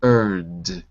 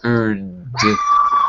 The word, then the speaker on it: earned: and okay very good be careful on words with Ed because uh normally we don't add the extra syllable Ed normally we don't and here we don't notice it earned right oh my goodness dogs uh oh dogs uh and here we don't either it's earned okay the next word you